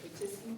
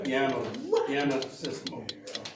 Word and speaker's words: pianissimo: Is that how you pronounce it? Petissimo? Yeah, it should be partissimo. Right there? Oh, no, I'm sorry, not Piano system mode. but yeah, pianissimo.